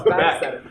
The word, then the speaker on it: Beeck: Yeah, it's Beeck, for the record.